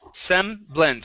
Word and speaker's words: semblance: first up is semblance semblance so this is a short e as well as the a that